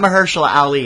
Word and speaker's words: Mahershala Ali: I got Mahershala Ali.